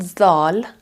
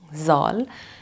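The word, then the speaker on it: ذال: comes the next part it's called zal zal and pronounced Z but it's a particularly Arabic letter again and they pronounce it something like the English th but that significance is lost in Persian again so we pronounce it like a normal z z or Z why am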